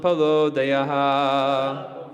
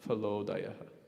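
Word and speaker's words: phalodayaḥ: So this Palo Dayaha, in English the PH is pronounced as Pa, but with the diacritics it comes out as Palodaya, not Phalodaya.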